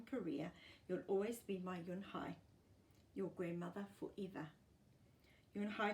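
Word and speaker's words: Unhei: Yun Hai looked quickly at Mr. Kim and then to Joey. She nodded slowly. "Yes, it's pronounced Yun Hai, and it means grace," Mr.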